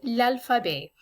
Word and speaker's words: alphabet: as you will see this is the same exact word we use in english we just pronounce it differently in french so that the t is silent at the end and anytime you're learning